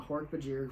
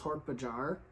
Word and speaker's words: Hork-Bajir: quantum virus on the Hork-Bajir homeworld. Which, just side note, I used to read Hork-Bajir as Hork-Bajar. Like, I don't know why my brain read that I as an A.